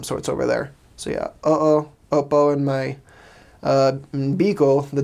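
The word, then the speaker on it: oo: to say it like casually, like to friends, uh-oh, just two O's. They pronounce all their A-E-I-O-N-U's over there.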